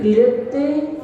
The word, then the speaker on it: कल्पे: श्री पीठ क्लिप्त क्लिप्ते विशदाक्षतौघैः श्री पृष्ठरे पूर्ण शशांक कल्पे। कल्पे ऐसा नहीं बोलना, ला आधा है इसलिए कल्पे।